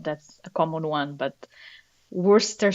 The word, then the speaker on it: Worcester: a common one but Worster sauce is something that for a non-native speaker is just plain wrong you can't write it like that and pronounce it like that you have to get